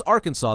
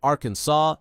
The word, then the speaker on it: Arkansas: Pronounce Arkansas correctly or you're breaking the law. Forget Arkansas, it's Arkansas.